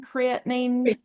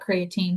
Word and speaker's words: creatine: The other question was if um is it pronounced creatine creatinine creatine improve uh